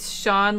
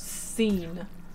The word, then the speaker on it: Sean: It's Sean like the regular way to spell it, like S-E-A-N. I used to think that was pronounced seen when I was younger.